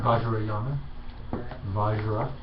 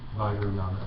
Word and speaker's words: Vajrayana: How do you pronounce it? Vajrayana. Vajra. Vajrayana, yeah.